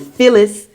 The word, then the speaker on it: Phyllis: So, you got to go but you have to spell it Phyllis like Phillies like the New York the Philadelphia Phillies.